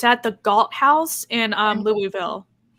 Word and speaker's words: Louisville: We have to teach people how to say Louisville. Wait, how do you say Louisville? Louisville. If you say Louisville, we know you're not from here.